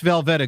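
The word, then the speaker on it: Velveeta: But it's Velveta.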